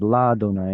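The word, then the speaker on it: לַיהוה: But the point is um, it becomes la donai instead of le or li, and it's because yod hey vav hey is supposed to be pronounced as that.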